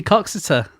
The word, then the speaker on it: Coxeter: It must be Coxeter. Coxeter, I guess so.